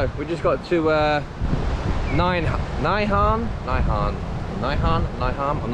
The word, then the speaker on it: Nai Harn: Nai Harn.